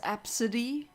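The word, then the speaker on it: Abcde: previous stream but it's just AB CDE e apparently pronounced as absidy but why would you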